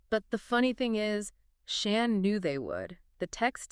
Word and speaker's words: Shan: And just a quick note for you, his name is Shan, pronounced just like you'd say Dan or Stan.